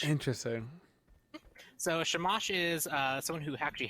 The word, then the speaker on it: Shamash: ability for gilgamesh wins of shamash interesting so shamash is uh someone who actually helps gilgamesh in one of his main battles with uh humbaba a demon he calls upon shimash to find the demon it's pronounced okay so he's calling down the winds